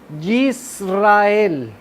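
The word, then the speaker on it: ישראל: Y está representada por esta palabra en hebreo y se pronuncia Yisrael.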